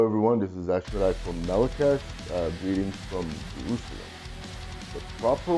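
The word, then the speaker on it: Melechesh: Hello everyone, this is Ashwadai from Melakesh. Greetings from Jerusalem. The proper way to pronounce the band name is Melakesh or Melakesh, more exotic.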